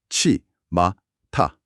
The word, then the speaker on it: やっちまった: 치마타. 발음이 굉장히 찰지죠? 네. 뭔가 입술에서 툭하고 튕겨 나가듯이 빠르고 강렬하게 발음되지 않나요? 확실히 발음 자체에서부터 특유의 리듬감이 좀 있습니다.